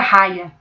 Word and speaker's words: Haia: brasileiro apostila de Haia no Brasil a gente pronuncia Raia Ok é com h que escreve e você vai chegar